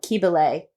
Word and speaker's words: Cybele: many goddesses we know, Kybele, or she's spelled Cybele, so you might pronounce it differently.